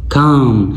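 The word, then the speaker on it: calm: sound है अ enough काम यहां पे इल साइलेंट है आपने यहां पे काम लॉन्ग वॉल का इस्तेमाल करना है काम कलर कलर लोअर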